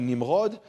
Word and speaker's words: Nimrod: Maybe because we pronounce, anyway, his name is actually Nimrod. But anyway, and if you pronounce it Nimrod, that's kind of a Nimrod thing to do.